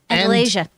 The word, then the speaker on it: Andalasia: the real world and, boy, how do you pronounce it? Andalasia.